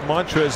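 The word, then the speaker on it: Montrezl: What does Montrez and I have in common, you know? You both have a silent L in your name.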